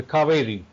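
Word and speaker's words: Cauvery: you one of the rivers that you love is spelled CA u v r y yes it's the cavi yeah Cav can you can you talk a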